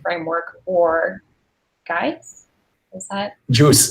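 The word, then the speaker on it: Guice: Juice is the pronunciation.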